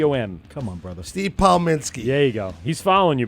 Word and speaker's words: Pominski: changes every time yes Kaminsky I like Kaminsky what's the proper way to say it's paw Minsky yeah you see look at the key om come on brother Steve Paul Minsky hey go he's following